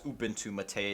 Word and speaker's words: Ubuntu MATE: official Ubuntu Mate website, it says to pronounce it as Ubuntu Mate. It's named after some sort of herbal tea, I think.